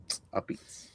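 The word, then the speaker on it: apizza: A Beats. It looks like a pizza, but it's pronounced a Beats.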